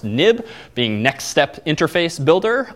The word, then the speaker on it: xib: in view controller dot X IB we have what's called a nib file even though it's xib it's historically pronounced nib being next step interface